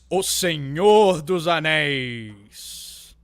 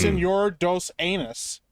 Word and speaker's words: O Senhor dos Anéis: O Senhor dos Anéis. I thought it was Senor dos Anus.